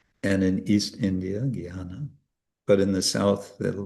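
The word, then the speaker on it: jñāna: He will pronounce it jnana, like G-Y, when it's actually j and not retroflex, cerebral na. In any case, the point is, in North India, they'll say jnana, and in East India, jnana.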